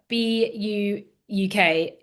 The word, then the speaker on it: BUUK: Um, you are from BU UK Infrastructure. Is that Is that how you pronounce it?